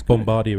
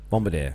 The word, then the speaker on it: Bombardier: a bit between Airbus and Boeing really it's Bombardier as well now yeah Bombardier up on that story Bombardier no you're saying it right it's just me